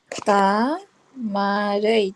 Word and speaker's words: தாமரை: தாமரை, தாமரை.